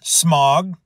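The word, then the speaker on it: Smaug: to go basically this Dragon Smog or smog however you want to pronounce it because in the in the original animated movie he was Smog and of course in the new movies he's smog whatever big freaking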